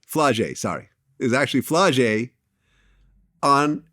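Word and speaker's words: Flau'jae: Is actually Flojo. Am I pronouncing the name right? Flage.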